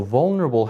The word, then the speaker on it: vulnerable: into syllables right so vulnerable has four vowel sounds four syllables vulnerable and when a word has more than one syllable one of them gets the accent which means we say it louder than the others and that's how we can